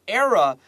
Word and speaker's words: era: Above era, era, please write air, like 空气 because this era, 这个气是发 air, like the...你在呼吸空气的话 write that down so we know how to say this word, era.